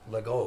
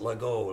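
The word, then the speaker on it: LeGault: Lego. He pronounced it Lego. Later on he learned it was French and I would play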